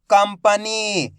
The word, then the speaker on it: कंपनी: की मात्रा कम प कंपनी यहां पर भी अपन ने आधा मा का उच्चारण करा है क्यों करा है चार